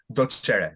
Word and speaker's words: Docere: Docere, Docere.